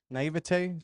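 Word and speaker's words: naïveté: I almost feel like if there was a certain naivety, how do you say it? Naivete to certain things, people would what be is a lot that, bro?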